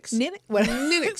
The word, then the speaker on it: Ninox: It's called Ninix. Ninix. We always say it like that. Ninox, the software.